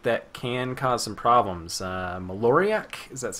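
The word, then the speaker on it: Maloriak: Maloriac? Is that how we're pronouncing it, I think? Yep. Maloriac.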